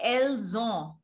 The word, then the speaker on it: elles ont: When we say elles ont, which means they have, there is z sound, z sound.